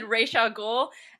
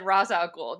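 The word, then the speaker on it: Ra's al Ghul: they did that is they pronounced it both ways some characters said resha ghoul and other characters said razakul because of course back in the day we all said ray shaw ghoul and then when the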